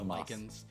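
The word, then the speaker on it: Lichen: so far and lyen you can tell from the pronunciation is not lyen like like rise of the lens it's it's like the kind of moss l i c h Len okay um well looks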